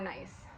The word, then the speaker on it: gneiss: Gneiss is medium to coarse grained with a banded appearance.